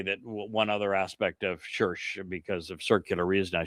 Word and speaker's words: Circe: Her name was Circe, and pronounced just like church.